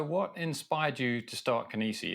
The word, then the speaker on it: Kinisy: So, what inspired you to start Kissi? Is that right? Is that how you say it? Kinesi. So, it's Kennessy.